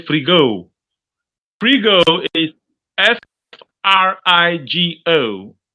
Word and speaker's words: frigo: we go say free go free go IS F r i g o f r i g o that's frigo it means fridge is that understood yes free girl is what f r i g o which means fridge uh refrigerator refrigerator is refrigerator